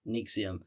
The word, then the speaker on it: NXIVM: And this is where we get to 1998 where Renier co-founded Nixium or NXVM is how it's spelled it, but it's pronounced. Nixium.